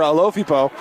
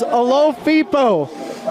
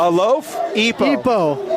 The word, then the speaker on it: Alofipo: We had family come in and said, hey, it's Alofipo. Like a loaf? A loaf? Epo.